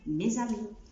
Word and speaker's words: mes amis: خلي بالنا في الليزون اللي حصل ما بين مي وامي، mes amis.